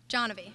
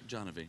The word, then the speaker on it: Janvi: Johnavy. Janvi. Yeah. No, I mispronounced it.